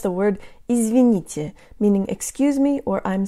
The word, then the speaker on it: извините: Hey guys, today you'll learn to pronounce the word izvinite, meaning excuse me or I'm sorry. The tongue is high and forward for all syllables in this word.